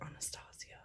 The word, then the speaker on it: Anastasia: like oh you mean anastasia so apparently those of us in the makeup world you know like we're all fancy and whatever so we pronounce it anastasia you know just in